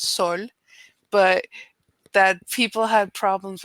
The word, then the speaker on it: Sol: only three letters and even the american accent you just say soul the real pronunciation is sol but that people had